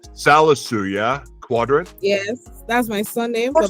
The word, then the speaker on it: Qudirat: Qudirat? Yes, that's my surname, but my name is Qudirat. Wait, say it again. My name is Qudirat. Qudirat. Yes, Qudirat.